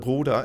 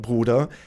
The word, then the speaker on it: Bruder: So, I said that if an English speaker to pronounce the word "Bruder", it's really important to drop your jaw, so it doesn't sound like "Bruder" because that sounds like the plural one, but you need to make sure that the jaw is dropped.